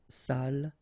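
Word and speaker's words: salle: So, even if you've got the double L here, it will be still the same pronunciation as this one. So, sal.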